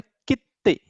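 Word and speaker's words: きって: तो जब ये दोनों के बीच में छोटा सु आता है, स्मॉल सु, तो उसका प्रोनाउंसिएशन होता है कित्ते. अंडरस्टूड? कित्ते. We have to pronounce this ते डबल.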